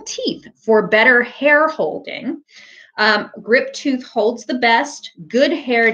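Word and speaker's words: Griptuth: I thought it was Grip Tough because it's spelled T-U-T-H. But someone in the comments the other day said it's pronounced Grip Tooth.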